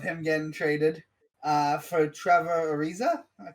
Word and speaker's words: Trevor Ariza: timings insane of him getting traded uh for trevor ariza i pronounce that right yeah yeah bro reports forever